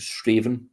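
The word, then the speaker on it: Strathaven: who are not uh local to straven it's spelled stra Haven so if you're going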